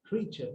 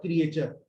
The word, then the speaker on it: creature: क्रीचर नॉट क्रिएचर। आप लोग क्या करते हैं? क्रिएचर, इट्स नॉट क्रिएचर।